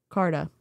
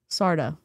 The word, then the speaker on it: Carda: I'm having a panic moment about Carda. Sarda? Sorry. I keep saying Sarah. Sarda. It's spelled C-A-R-D-A, but the C is like an S.